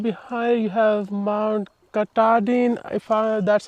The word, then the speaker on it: Katahdin: Fresh, clean water, and right behind you have Mount Katahdin, that's how you pronounce it.